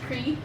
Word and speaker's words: Qri: yourself hello guys um my name is cree qri um it's spelled qri pronounced c-r-e-e um i'm an atlanta